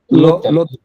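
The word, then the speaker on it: l'hôtel: দেন এল অ্যাপোস্ট্রোফি হোতল, এটা উচ্চারণটা কি হবে একসাথে? লোতেল লোতল, লোতল আ বিয়ান।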